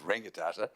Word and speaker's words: Rangitata: Is it a, yeah, but it's Reki Tata, and I've only ever heard of Rangitata. Is it just a new pronunciation or a? Dialectical, so NGK is interchangeable.